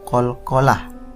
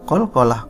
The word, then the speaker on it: qalqalah: Qalqalah artinya memantul. Ketentuannya, apabila ada huruf ba atau jim atau dal atau to atau huruf qaf mati baik karena sukun atau berhenti, maka cara membacanya berbunyi memantul.